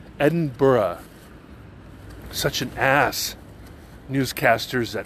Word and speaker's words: Edinburgh: fact that the bloody place is not called Edinburgh it is not called Edinburgh it is pronounced Edinburgh Edinburgh such an ass newscasters at Fox News and